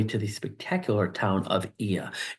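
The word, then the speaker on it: Oia: make your way to the spectacular town of eia it's spelled o i a looks like Oya but it's pronounced e in uh Greek here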